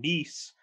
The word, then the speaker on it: Kneese: i'm your host nice the k is silent k-n-e-e-s-e and bullshitting with